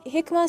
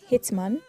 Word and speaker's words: Hikmah: Hikmah sounds even easier to pronounce, and it is, but I told someone my name was Hikmah, and he said, Hitman? Like, how does Hikmah sound like Hitman, please?